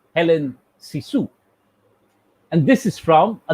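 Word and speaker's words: Hélène Cixous: french feminist critique called helen sisu note the spelling c i x o u s there are certain you know stresses on helen but it is primarily sort of pronounced as helen sisu and this is from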